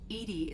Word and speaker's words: EDI: are you named Edie Edie is the phonetic pronunciation of EDI that is an acronym for where are you